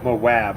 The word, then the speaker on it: Moab: Moab. I'm from Moab. Is that with a W? My name's with a W. No, Moab.